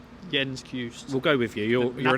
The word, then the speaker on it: Cajuste: I think it's I don't think you pronounce the E. Cajuste. Jens Cajuste.